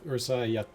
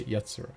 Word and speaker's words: Yatsura: now next we have Ursa yet sorry I keep saying it wrong we will say yatsura because urasai is obviously like shut up you're annoying we're saying is like just